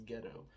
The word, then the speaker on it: Geto: It's spelled Geto, but pronounced as ghetto.